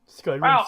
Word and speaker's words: Skyrim: Skyrim sounds like rim.